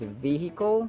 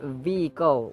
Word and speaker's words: vehicle: In the case of vehicle, it can either be pronounced as vehicle where H is sounded or vehicle where H is not sounded.